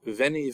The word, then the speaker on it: Veni: make the V sound Caesar's famous remark Veni VI vichi I came I saw I conquered would have been pronounced as wenyi Wei it wasn't until the